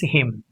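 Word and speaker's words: hymn: C o l u mn is silent column h y m n is silent him. It's not him. Okay. It's him. P.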